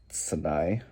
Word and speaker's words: Sinai: they were still at the base of mount sinai that's how you pronounce it anyways so what god was telling